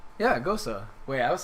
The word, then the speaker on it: Gose: So the pronunciation of ghost is the same way as the name Rosa. What? With emphasis on the O and the E, making it sound like so.